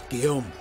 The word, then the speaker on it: Guillaume: demands great sacrifices guillaume let's say his name that does not look like how they spell it at all like phonetically guillen it's like it's like g-u-i-l-l-a-m-e or something like geargalm it's guillaum okay let's go see the